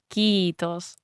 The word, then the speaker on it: kiitos: So my colleagues were like it's not kiitos it's kiitos because it's double e and it's like okay so you have to double pronounce it.